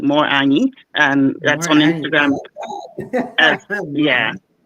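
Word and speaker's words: Morena: Plus y okay okay mine is more more an so m o r e an a n ye e more an and that's on Instagram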